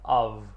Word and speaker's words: of: Lembrando que é o som de V, of.